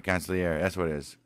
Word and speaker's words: consigliere: Right, consigliere. That's what it is. Right, consigliere. That's G is silent.